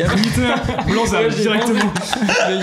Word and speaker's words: Blansable: Et du coup, moi, je prononce blanc sable. Blanc sable. J'ai dit que c'était du blanc sable.